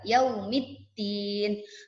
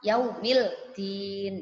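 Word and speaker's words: يوم الدين: Contohnya, yaumiddin. Alif lam bertemu huruf dal, maka alif lamnya tidak terbaca, langsung lebur ke dal. Yaumiddin. Tidak boleh dibaca yaumildin, tidak boleh.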